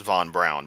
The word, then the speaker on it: von Braun: Von Braun also, and it is properly pronounced Von Braun, by the way, did, however, take advantage of concentration camp slave labor, and yeah, he's kind of on my.